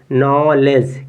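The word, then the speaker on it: knowledge: क्या लिखा है देखिए यहां पे डी के बाद जी है तो डी साइलेंट हो जाएगा तो इसको पढ़ेंगे और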